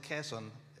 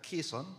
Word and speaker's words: Quezon: And for Manuel, we pronounce it Quezon, but it can be done Quezon. Quezon. Yeah, but it's Quezon.